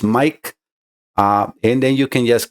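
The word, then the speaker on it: Maic: My name is spelled M-A-I-C and sounds as Mike.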